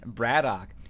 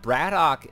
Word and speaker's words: BratOK: that from now on and braddock it was the name that I heard day 9 pronounced some time ago some people have been saying Brad okay I think husky says Brad okay I like saying Braddock because it rolls off the tongue a little bit easier